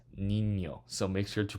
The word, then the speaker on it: niño: It's not Nino, it's niño.